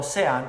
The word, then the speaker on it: Sean: Sean, se escribe como Sean, pero así se pronuncia mi nombre, Sean.